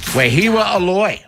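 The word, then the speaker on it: Wehiwa Aloy: Wahiwa Aloy will be joining us. Am I pronouncing that correctly, by the way?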